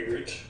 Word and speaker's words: route: is probably probably the the most correct pronunciation would be root because it comes from the old french which presumably is pronounced root i mean you think about rue right yeah and water is